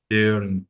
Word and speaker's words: daring: Daring, Da- daring, how many sounds in that A? A. Daring. Daring. Is that a, they, one sound, A? they, A. a, A. this is two Daring. sound, two sound. Daring.